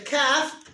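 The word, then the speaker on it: كاف: Where is the calf pronounced from? Someone tell me. Good boy. Top of the throat.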